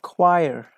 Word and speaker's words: choir: Number 10, choir. The same, they say. Choir. Yes, it is the same. Yes, thank you. It's the same, Julia. H is not pronounced here.